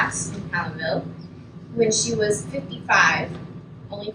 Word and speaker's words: Palenville: It was really Palenville. Oh, Oh, you just decided to say Paladin?